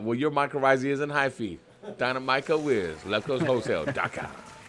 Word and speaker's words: hyphy: yeah yeah and be like dynamico getting a high fee is that that's how you say say you're